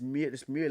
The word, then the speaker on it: Müller: Thomas Mueller with the E with the M U L L E R cuz they've got the two dots, but it's Muer, isn't it?